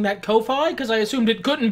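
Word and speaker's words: Ko-fi: because uh the the coffee website is spelled like kofi kingston but it the intent is to give somebody enough money to buy a coffee so i say coffee oh i i literally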